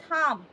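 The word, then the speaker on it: thumb: আঙ্গুর থাম্ব বলি না আমরা বলি থাম্ব কেন কি কারণ এম এর পরে লাস্টে বি রয়েছে ঠিক একইভাবে লিম বলি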